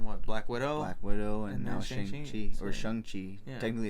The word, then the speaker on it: Shang-Chi: Black Widow, and now Shang-Chi. Or Shang-Chi. Yeah. Technically it's Shang-Chi. Shang-Chi, makes it a point to... Yeah, Shang-Chi.